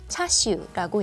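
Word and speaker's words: 叉燒: 차슈는 중국 표준어인 차셔를 광둥어로 읽은 단어예요. 광둥어 발음으로는 차슈라고 읽는데요.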